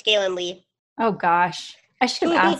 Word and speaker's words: Gaelynn Lea: Did I say that right? Yeah, it's Gaelynn Lea.